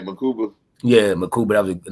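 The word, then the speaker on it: Mukuba: Oh yeah, it was right, Makuba.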